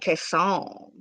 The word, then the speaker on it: Kason: I said Casey, and she said Kason.